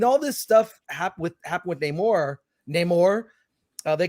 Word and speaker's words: Namor: Namor rhymes with Chris Gore, so that's all you need.